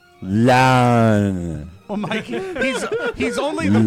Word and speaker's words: Loudoun: Loudoun County, and really, don't say Loudoun County. Do not pronounce it that way. Pronounce it like Wade does, okay? Pronounce it like this. Loudoun.